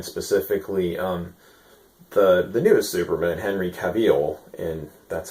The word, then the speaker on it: Cavill: Um, just gonna talk about Superman, specifically the newest Superman, Henry Cavill, and that's how you pronounce his name.